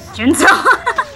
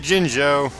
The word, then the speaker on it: Jinjo: What Jinjo? You haven't seen a Jinzo. Jinzo? I said Jinjo.